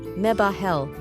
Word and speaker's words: Mebahel: Name: Mebahel, pronounced Mebahel.